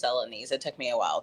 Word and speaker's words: Celanese: And just to let you know, it's pronounced Celanese.